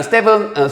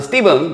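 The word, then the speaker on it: Stephen: 해 나오죠 자 레빈슨이 스테븐 스티븐 뭐 스판이라 써지는데 스티븐이 발음해 주는게 사실 좋습니다 어 스테판커리 농구 선수는 예외고 알겠죠 자 그래서 아리슨이라는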